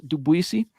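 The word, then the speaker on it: Ndubuisi: in dubuisi into dubuisi I think the N is silent right so it's dubuisi um now this is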